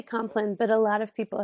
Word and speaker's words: compline: So people say it both ways. I say compline, but a lot of people have said, people have asked me that.